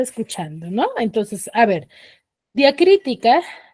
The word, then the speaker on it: diacrítica: no entonces a ver diacrítica tiene cuatro sílabas y la mayor fuerza de voz está en cri que según su posición se encuentra en la antepenúltima sílaba en la antepenúltima sílaba